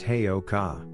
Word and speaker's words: Heyoka: Pronounced Heyoka, Heyoka is a Lakota word meaning fool or sacred clown because of their ability to create healing from humor.